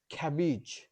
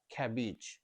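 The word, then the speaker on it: cabbage: বাল দুটা বটার কিন্তু একটা ব সাউন্ড বাবল নেক্সট খ্যাবিজ দুটো বি কিন্তু একটা ব সাউন্ড খ্যাবিজ হবি দুটো বি কিন্তু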